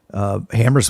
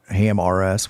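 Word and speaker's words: HAMRS: That 5 years ago, Hammers was the new thing, or Ham RS, which I've heard it pronounced both ways, and that was great, right?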